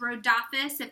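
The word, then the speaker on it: Rhodopis: cool thing is is road opposite that's how you say it that's what Google told me we say it Road office is the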